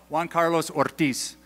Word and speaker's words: Juan Carlos Ortiz: And it was written by a South American pastor named Juan Carlos Ortiz. Did I say it right? Okay, good. So Juan Carlos Ortiz, and he's from Argentina, and he was dealing